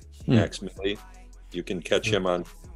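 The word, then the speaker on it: Mvx Milli: And he goes by the name of Max Milley, and that's spelled M-V-X-M-I-L-L-I. Hmm. Max Milley.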